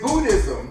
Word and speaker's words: Buddhism: I mean, the second D and H is silent.